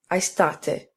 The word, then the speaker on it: aestate: Thus, aestate has 3 syllables.